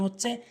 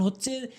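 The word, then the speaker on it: حاء: এরপরে হা ভুল উচ্চারণ, হা ভুল উচ্চারণ, সঠিক উচ্চারণ হচ্ছে হা, হা। অর্থাৎ হলকের মাঝখান থেকে হাটি উচ্চারণ হবে।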